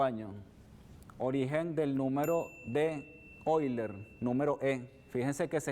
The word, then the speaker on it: Euler: venezuela matemática 4º año origen del número de hoy learn número en fíjense que se escribe euler no se pronuncia hoy learn que tiene un origen europeo ese apellido se escribe euler y se pronuncia hoy leen o simplemente se conoce como el número porque